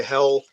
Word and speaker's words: Helle: I do have my Hell, and that's spelled Helle 9.